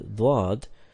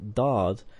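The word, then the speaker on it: ض: Hazrat Musleh Maud said that the Indian people recite the letter Dwad like Dad or Zad. But its roots are different.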